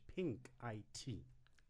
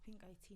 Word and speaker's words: Pink IT: co-found a company called pink I.T thank you tell us a little bit about that um thank you for pronouncing it as pink I.T not pink sink or pink it pink pink pink yes